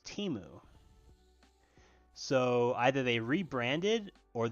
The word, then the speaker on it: Temu: on there and that they pronounced their own company named temu when which is fine but the problem is that last year at the Super Bowl they had an ad that they called themselves Teemu so either they rebranded